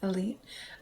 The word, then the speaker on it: Elyt: So the sponsor for my show is called Elite, and it's spelled ELYT, Elite.